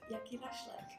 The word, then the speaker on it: Jakielaszek: How to pronounce my last name? Kath first. Jakielaszek.